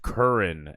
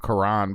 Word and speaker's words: Curran: K Squizzy, my man, aka Curran, pronounced Curran, everybody. Oh, not He get Dude, we we were talking about that outside for a little bit. Um yeah. Oh, I definitely caught him Karan before.